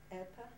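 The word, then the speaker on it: Epe: We arrived to Epa. Epa. Even though it's spelled E-P-E.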